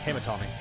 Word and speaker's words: Kamitani: Seiya Kamitana. Tani. It's Kamitani.